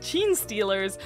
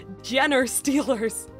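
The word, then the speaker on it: Genestealer: a Games Workshop store that Gene Steelers were pronounced Jenner Steelers it lasted about a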